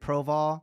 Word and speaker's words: Proval: No, it's Proval. It's Proval. Proval. I think I would always say his name wrong.